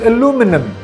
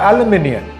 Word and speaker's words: aluminum: is consecutive not consecutive this word is aluminum not aluminum this word is cacophony